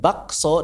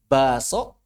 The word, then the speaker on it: bakso: Kebanyakan orang Indonesia umumnya bacanya apa? Baso. K-nya hilang. Hadzf itu namanya. Baso. Kalau orang Jawa, tengah Jawa Timur, ibdal. K-nya diubah jadi hamzah. Bakso. Bakso. Orang Bugis, idgham. Basso. Nah, begitu.